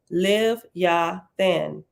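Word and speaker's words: לִוְיָתָן: from the named ancestor the English name Leviathan is in Hebrew Leviathan pronounced live ya then and means read serpent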